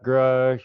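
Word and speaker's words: Grusch: Is that how you pronounce his name? Oh yeah, yeah, Grush and Lou Elizondo and all.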